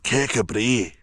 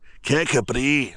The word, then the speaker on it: Kirkcudbright: Well, that's how it's spelled, but apparently it's pronounced Kabri. Kabri. We're going to Kabri.